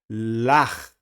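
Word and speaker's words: לָךְ: Então fica Lach. Olha que eu não estou pronunciando o Shivá, hein? Lach. Lach. Esse Shivá vai ser mudo, está fechando essa palavra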